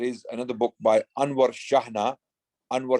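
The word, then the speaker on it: Chejne: spain also there is another book by anwar shahna anwar shahana anwar is spelt a-n-w-a-r shahna is spelt c-h-e-j-n-e and the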